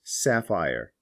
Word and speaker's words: sapphire: end of the word an interesting variation is sapphire notice that there are two peas here followed by an